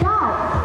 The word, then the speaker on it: doubt: for example the word shown on screen is pronounced as stle notle it is doubt not dark is death not death now you